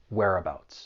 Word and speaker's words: whereabouts: The pronunciation, it's pretty straightforward. There are three syllables. The stress is on that first syllable. Whereabouts.